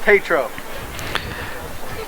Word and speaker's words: Tetro: Now number 12 from Franklin Township, just boxing out Matt Tetro. Pronounced Tatro.